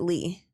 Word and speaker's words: Leigh: I would pronounce it Lee.